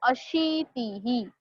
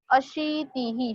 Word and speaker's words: अशीतिः: So Sapta Saptatihi, Ashta Saptatihi, Nava Saptatihi, and very important spelling Ashitihi. Ashitihi. Sh is दीर्घ. तो slightly उसको जरा थोड़ा खींचना है एंड देन प्रोनाउंस करना है अशीतिही.